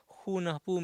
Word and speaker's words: Junajpu: Junajpu, the word Junajpu, actually the J are pronounced as H. Hunahpu means one hunter.